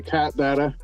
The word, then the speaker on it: Kaht Dahta: I would say Kaht, Dahta.